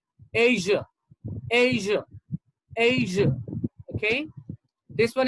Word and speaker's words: Asia: russia russia russia and this is not asia this is called asia asia asia okay this